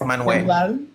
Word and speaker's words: Manuel: well they agreed on Manuel Manuel Manuel yes is that how you say it in um Spanish yes man way I think that is